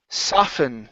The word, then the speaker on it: soften: okay next up is soften the t is silent okay instead of soften